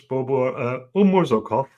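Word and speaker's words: Bobur Umurzokov: This is Bobo Umurzokov. Yes. Was I close? Yeah, you're pronouncing very correctly, Chris.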